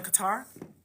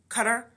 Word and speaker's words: Qatar: I've been telling my kids like, "We're going to Qatar." Cutter. They're like, "You're saying it wrong. Cutter." Cutter is how they say it in Cutter. I say Qatar, but that's not the way you say it.